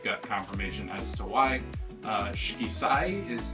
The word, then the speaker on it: Shikisai: Shikisai is how you pronounce, I think, the new restaurant that is coming in, and that stands for 4 seasons.